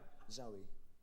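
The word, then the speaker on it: Zowie: Zoe.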